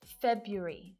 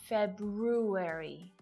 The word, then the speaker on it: February: So February is most definitely the purest silent R in this sentence. February, not February.